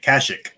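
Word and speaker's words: Kashyyyk: planet and he said kazuk oh kashik yeah well they in the nights of the Old Republic they pronounce it kashik casik yeah Chic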